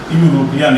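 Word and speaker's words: European: पहले क्या होगा, यू, इसका उच्चारण ऐसे होगा, यूरोपियन, यह भी यू से शुरू होगा। तो वोवेल होते हुए भी वोवेल साउंड नहीं है, तो इसके पहले क्या लगेगा, ए लगेगा। यूलोजी, तो इसके पहले क्या लगेगा, बोलिए, यूलोजी।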